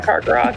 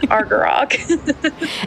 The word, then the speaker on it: Argarok: I was going to say car regrab. He's not a Karok. He's an Argarok.